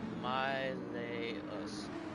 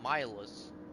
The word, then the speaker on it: Mileus: No, it is Mileus. Mileus? I mean, that's what I said in the beginning, was Miles. Not Miles. I just did that for puns. But I pronounced it as like Miles.